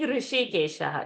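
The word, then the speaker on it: हृषीकेश: So in Rishi, that sh when we say, we have to touch the tip of the tongue to the roof of the palate, and like a whistle,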